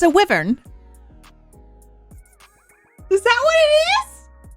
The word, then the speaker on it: wyvern: do you say that W wyvern it's a wyvern is that what it is yes Brian over